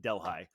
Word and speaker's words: Delhi: neighboring margaretville or delhigh it looks like Delhi but the the locals pronounce it delhigh um and uh and